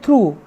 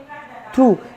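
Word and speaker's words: through: निकालता है स्लो ये इसका देखिए बिल्कुल अलग उच्चारण है टी एच आर ओ यूजी जिसको हम पढ़ते हैं थ्रू थ्रू जिसका मतलब होता है से होकर तो डियर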